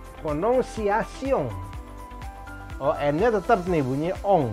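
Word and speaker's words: prononciation: Nah ini, lihat, ada si R, cadel R. Lalu ada kombinasi ON. Kombinasi ON di bahasa Prancis itu bunyinya ong. Ong, ya.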